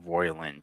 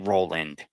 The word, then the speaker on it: Roiland: If you don't like Justin Roiland, he keeps saying Roiland. He's saying the fucking name wrong. He's pissing me off. It's Justin Roiland.